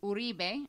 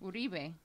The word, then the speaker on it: Uribe: Gregorio Uribe, Latin jazz band leader, composer, singer. Invisible Familiars. How you pronounce that again? Uribe.